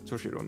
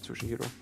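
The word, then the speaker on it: Toshiro: Did I me I said his name wrong. I'm sorry. Toshito, not Tushihiro.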